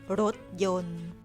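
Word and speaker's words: รถยนต์: จะ วาง ไว้ นะ คะ บน ตัว พยัญชนะ ที่ ไม่ ออก เสียง ตัว อย่าง การ ใช้ การันต์ รถ ยนต์ อ่าน ว่า รถ ยนต์ น้ำ มนต์ อ่าน ว่า น้ำ มนต์ นาย แพทย์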